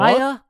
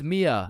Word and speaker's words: Mia: Maya? Is Maya present? It's Mia. Wow, quite the name you got there.